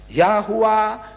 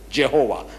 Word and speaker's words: Yahuwah: in Hebrew in Arabic yahuwah means oh he because the j is an invention of the westerner jehovah i said throw it